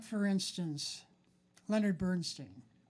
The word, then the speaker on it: Bernstein: that I remembered uh like for instance Leonard Bernstein how do you pronounce his last name Bernstein sorry thank you Leonard Bernstein um uh somewhere